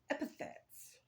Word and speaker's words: epithets: Get a list of epithets. Yes, that's how you say it. I always confuse it with epitaph, but epithets are like alternate names that entities or deities are called.